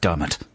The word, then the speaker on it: Diarmaid: And I know it's pronounced Dermot.